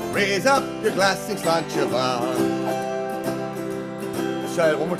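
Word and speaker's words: Sláinte mhaith: There's a great phrase in the Celtic nation, Slainte Mhaith. Slainte Mhaith means, here's to your good health. Let's drink some water. Slainte is here's to your health, and Va is good. It's spelled really weird, but, it's Gaelic, so...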